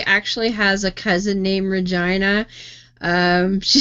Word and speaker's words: Regina: to spell that but it does rhyme with vagina yeah and and just to address like last night people were talking about how to pronounce it and that it it actually comes from the Royal um talking about the queen and it is Regina if you're talking like Victoria Regina or Elizabeth Regina it would be Regina